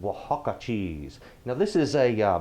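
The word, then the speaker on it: Oaxaca: for this dish if you can please find Waka cheese if you need the way you spell that get ready to get a pen cuz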